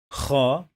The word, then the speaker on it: خ: This one is kha. Try to snore.